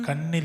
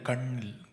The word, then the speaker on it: கண்ணில்: பாடுங்க உன் கண்ணில் வழியும் கண்ணில் இல்ல கண்ணில் மூணு சுழி இன் லாங்குவேஜ் உச்சரிப்பு ரொம்ப முக்கியம் கண்டினியூ ஒரு துளி போதும்